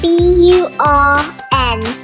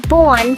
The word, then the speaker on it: burn: How would you pronounce B-U-R-N? Some say it's born, but how then do you pronounce B-O-R-N?